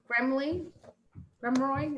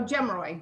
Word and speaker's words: Gemroy: And missing from the meeting is Eric Gremroy. Is that how you pronounce it? Oh, Gemroy, yes.